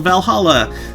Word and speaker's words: VA-11 Hall-A: blog Valhalla the paint sounds silly and a bit hard to pronounce good thing it's actually called Valhalla the funny numbers and letters are just a code anyway I visited this